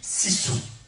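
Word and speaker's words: sisu: et tout apprendre aujourd'hui qui se dit sou ça s'écrit s i s u le sour cela fait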